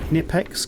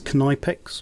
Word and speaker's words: Knipex: you're disassembling your airbrushes this is a nipex knipex or knipex depending on how you pronounce it but it's a